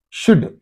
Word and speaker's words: should: You are not saying. So these two things are not pronounced. They are silent.